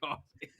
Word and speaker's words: Coffey: different movie the the John coffee yeah John coffee but not but not spelled the same my favorite line not